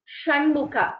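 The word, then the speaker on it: षण्मुख: This sh is as in Shanmukha.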